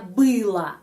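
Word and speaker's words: была: bahasa Rusia untuk laki-laki Bela untuk perempuan belo o diakhiri o tapi ucapannya bila Baa kenapa O diucapkan a karena penekanan pada huruf e bila dan untuk mereka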